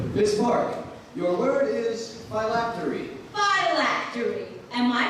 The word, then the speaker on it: phylactery: Miss Park, your word is phylactery. Phylactery. Am I pronouncing that correctly?